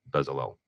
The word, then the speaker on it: Bezalel: Why do you think today's technical artists are the modern version of Bezalel? That's great, and you nailed the pronunciation there.